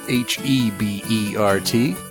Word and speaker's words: Hebert: At Kyle Hebert, which is Hebert. Don't spell it Herbert.